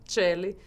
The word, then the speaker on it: Coeli: Que em latim é a expressão Celli, com essa pronúncia.